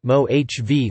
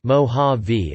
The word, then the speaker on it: Mojave: The Mojave Desert pronunciation, mo-HAH-vee, mo-HAH-vee, is an arid rain shadow desert and the driest desert in North America.